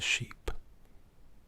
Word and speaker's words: sheep: This is a minimal pair because of the repeated sh sound and the vowel. And then of course the consonant on the end is the same as well. Now for some non-native speakers it can be confusing. Ship could mean sheep. Sheep could be how you pronounce ship. But when I say it, you can hear the difference ever so slightly.